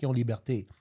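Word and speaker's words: Liberté: I'm saying it that way because there is an accent on the E in creation and the last E in Libert. So, Mir Liberte, its origin is Dominican.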